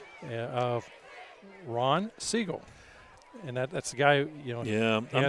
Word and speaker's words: Szczygiel: I understand that, but I want all the folks to know this is how it's spelled. SZCZYGIEL. They may say Siegel, and hey, that's how you pronounce your name. Wonderful. That's not Siegel.